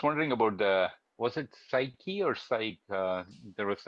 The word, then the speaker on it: Psyche: And it's spelled oddly, uh p s y c h e. So, I'm I call it Psyche. Um Yeah. I think that's probably a an approximately right pronunciation.